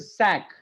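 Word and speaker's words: cinq: 5 का इज सैक.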